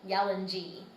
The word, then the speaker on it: Yalanji: It's an I, Y-A-L-A-N-J-I, but pronounced as if it was a double E, Yalanji.